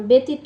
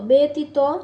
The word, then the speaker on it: ব্যতীত: যিনি সূর্য সূর্য তবে জ ফলা থাকলে স্বরের উচ্চারণে পরিবর্তন হয় যেমন যেমন ব্যতীত ব্যতীত ব্যথা ব্যথা শব্দের মাঝখানে বা শেষে জ ফলা